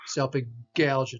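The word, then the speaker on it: salpingalgia: Selpingalgia, selpingalgia. So here's a G followed by an A, selpingalgia, not selpingalgia, but selpingalgia. Selpingo means the fallopian tubes.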